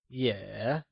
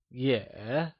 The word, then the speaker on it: 也: Also translates to yeah, and it is pronounced using a falling rising tone. Can you try and say yeah?